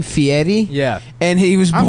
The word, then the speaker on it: Fieri: He pronounced his name Fieri.